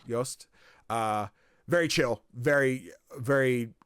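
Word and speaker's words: Jost: J O S T uh was one of the composers. Yost uh very chill, very very fun conversation.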